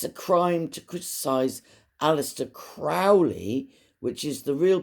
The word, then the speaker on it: Crowley: slow down a minute aliser Crowley that's how his name is pronounced but he liked it pronounced crowy because it rhymed with holy it's the same with